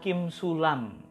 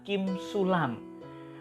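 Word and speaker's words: כִּמְשֻׁלָּם: dengan baik dan benar kata yang dikutip oleh Ustad kainama itu sesungguhnya cara bacanya adalah Kim sulam nah yuk kita perhatikan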